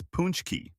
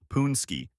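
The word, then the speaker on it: pączki: It's poonch-key, not the more intuitive-looking poon-ski that out-of-staters frequently attempt.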